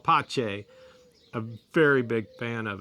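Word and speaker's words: pace: pe a ce peace in Italian it's called pache a very big fan of it and one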